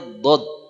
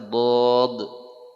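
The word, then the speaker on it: ضاد: kita membahas huruf Dod nama dia apa E kita tahunya do ya nama dia Dod pakai lagi ya Jadi kalau dibahasakan Dun Nah begini dibaca Dod ya Nah kitaahunya D kalau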